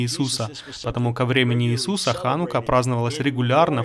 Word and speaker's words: Ханука: Если вы видели, как она пишется на английском с CH, знаете, это не Чанука, здесь в иврите нет звука Ч, но это Ха, Ханука.